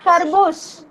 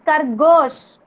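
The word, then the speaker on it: खरगोश: Not kharbush. It's khargosh. Khargosh.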